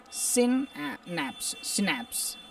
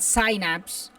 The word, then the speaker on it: synapse: It's pronounced synapse in the United States and synapse in England.